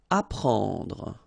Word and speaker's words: apprendre: Apprendre. Alright, so combination of E and N gives you this nasal en, okay?